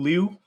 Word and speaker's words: Liu: i'd like to simulate liu i think is how you say it and like he's uh liu liu it's not i i think it's lee that's i hear everyone say lee oh okay i just